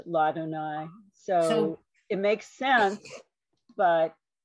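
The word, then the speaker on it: לַאדֹנָי: did not um remember that that would be pronounced ladonai so it makes sense but hey is adonai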